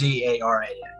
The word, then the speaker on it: Zaharan: Well, it's the Z. The H is basically silent. The Zarn basically it's just it's basically pronounced. It's basically pronounced Zaran.